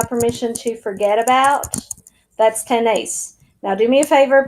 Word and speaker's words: tenéis: Then you can start working on memorizing tengo, tienes, tiene, tenemos, tenéis, tienen. Accent on the E in tenéis.